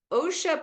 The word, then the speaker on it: Osha: So, oh, and Osha pronounced like Oshkosh.